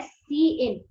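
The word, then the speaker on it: cin: सी इन हमारे पास में जो कंसेप्ट है, अच्छा इसको बोलेंगे क्या, ये यहाँ पर मैंने लिखा है कि प्रोनाउंस्ड एज सी इन, ठीक है।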